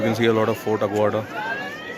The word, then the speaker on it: Aguada: It's pronounced as Fort Aguada.